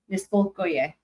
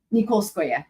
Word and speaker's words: Nikolskoye: It's Niskolskoye. Sorry, wait, no, hold on. It's Nikolskoye. That's what it is. Nikolskoye. But like the yeah part is not represented accurately in the whenever they try to write it in English.